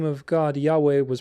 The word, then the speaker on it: Yahweh: biblical scholars and linguists do not believe Jehovah to be the proper pronunciation of Yahweh. There was no true J sound in ancient Hebrew. Even the Hebrew letter Vav, which is transliterated as W in YHWH, is said to have originally had a pronunciation closer to W than V of Jehovah.